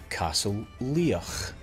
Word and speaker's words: Castle Leoch: Today's word is Castle Leoch is the ancestral castle of the Mackenzie clan.